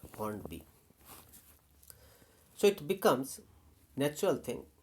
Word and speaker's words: Hornby: Some people may call it Hornby because of the earlier association of by as pronounced by. So Hornby, and then after hearing someone making the correct pronunciation or consulting a dictionary, I may come to the correct decision that no, correct point that it is not Hornby, it is Hornby.